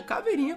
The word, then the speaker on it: Caveirinha: Black tem o caveirinha caveirinha Começa com C mas se pronuncia com K porém o seu nome